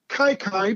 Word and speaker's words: Kiki: born in 1898 anyway his nickname as you as you rightly said uh kai kai probably the most mispronounced or one of the